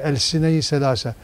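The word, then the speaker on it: Elsine-i Selâse: But when you pronounce it in the Turkish way, you say El Sine Selassie.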